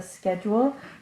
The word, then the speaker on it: schedule: That's a schedule. Notice here that the CH says K. It sounds like a K.